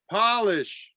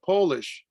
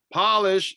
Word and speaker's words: Polish: Japanese, Korean, Mexican, Polish. Well, I actually pronounced that wrong. It's actually Polish. Polish, it's spelled the same.